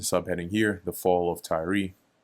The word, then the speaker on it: Tyre: Tyre. Tyre. In a American English and British English, it is said as Tyre.